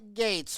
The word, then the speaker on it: Gueits: Up on the left is Lauren Gueits. Her name sounds like Bill Gates, but it's spelled Gueits.